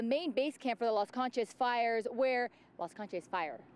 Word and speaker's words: Las Conchas: Is it Las Conchas? How do you say it? Pronounce it? Las Conchas.